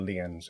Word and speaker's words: lien: I don't know what liens is.